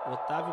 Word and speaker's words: Octavio: Arroba Octavio Bocão Oficial, porque o C é mudo, né? Otávio Bocão Octavio.